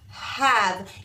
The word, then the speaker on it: have: I have. E is silent.